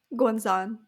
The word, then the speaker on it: Guanzon: The Hurricane Wars by Thea Guanzon? How do you say her last? Guanzon. Guanzon?